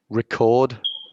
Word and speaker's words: record: So, as a verb, it's like this: record, record, and as a noun, it's like this: Record. Recording. Yeah, a record, a record. So that's a general rule that you'll find in English when there's a word that can be a verb and a noun. When it's a verb, you stress the second part.